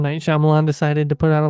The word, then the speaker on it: Shyamalan: Night Shyamalan decided to put out a live action and